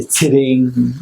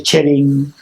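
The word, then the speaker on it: Tsering: My name is let's say Tsiring. My name is Tsiring. What? Some people say Chering, right? They can't even pronounce Tsiring properly. They say Chering. Some people say Sharing, right?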